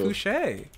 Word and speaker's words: Fouché: Colleen Fouché. How do you spell Fouché? Foucher. Foucher. Ooh, I like.